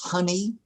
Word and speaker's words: Honey: I say it right is it pronounced honey yes you're honor Mr honey thank you